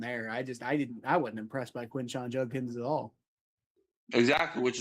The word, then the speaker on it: Quinshon: So next you got how do you pronounce? Is it Quinshon or Quinshawn? Quinshawn.